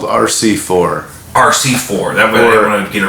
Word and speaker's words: RCIV: It's called RC4. RC4. That way I don't want to get it wrong. RCIV is how it's spelled. RC space IV. And but it stands for River City 4.